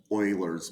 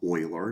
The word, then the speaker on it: Euler: Okay, let's look at Euler's method here, and that is pronounced Euler, not Euler.